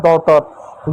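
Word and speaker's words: daughter: डी ए यू जी एच टी ई आर। डी का क्या लिखेंगे? ड लिखेंगे। डी खत्म। ए यू को क्या लिखेंगे? औ लिखेंगे। जी एच खत्म हो जाएगा। ने पढ़ते हैं साइलेंट होता है और टी का ट लिखेंगे। इ आर का र लिखा जाएगा। हो जाएगा डॉटर।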